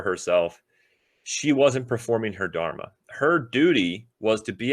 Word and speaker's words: dharma: goes with it and luckily it rhymes because it's dharma so dharma is your